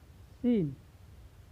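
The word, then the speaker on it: scene: चलिए अब नेक्स्ट देखते हैं कि जब भी सी, यानी जो सी है वह यस के बाद आए और आई, ई या वाई सी के बाद आए, तो वहाँ पर हम सी का उच्चारण नहीं करते हैं। जैसे साइंस, सीन, सेंस।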